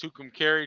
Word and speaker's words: Tucumcari: Mexico yeah buddy oh it's pronounced Tucumcari Tucumcari it's probably more like Tucumcari New Mexico but that's where we